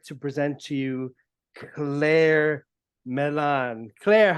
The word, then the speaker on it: Millane: thank you so much my surname Milan perfect okay good I've been practicing because the way the way her last name is spelled uh I would pronounce it melane but I've been practicing my you know I've been practicing for this so yeah okay perfect I'm glad I was able to pronounce it correctly how do you do